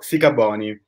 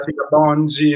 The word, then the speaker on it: Sikabonyi: Si pronuncia Sicaboni, giusto? Sì, bravissimo, perfetto. Non hai Esatto, avuto paura del mio cognome, bravo. so che in Grazie. passato hai avuto molte problematiche legate al cognome perché c'era chi lo pronunciava Sicaboni, c'era chi lo Sì. pronunciava Sicabongi, Esatto, insomma.